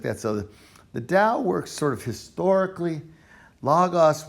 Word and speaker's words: Tao: taoism other things emphasize the tao in the old ways spelled with a t it the tao the dao is a type of historical